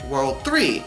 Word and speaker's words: WWW: No, not spelled World 3, spelled WWW, but pronounced World 3.